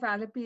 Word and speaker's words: Alleppey: And just a reminder, Pramila has a book, Singer of Alapy. Did I say it correctly? Which one? Oh, Yeah, Singer of Alleppey is available from Shanti Arts Publishing or from Amazon.